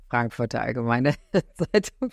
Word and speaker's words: Frankfurter Allgemeine Zeitung: I did a story about him for this Frankfurter Allgemeine Zeitung.